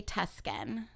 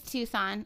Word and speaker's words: Tucson: I did it again every time I read that word I say Tuscan why do I do that I don't know CU it's maybe it is tusin no it's Tucson it is but it's spelled t u s c o n what's tusin I don't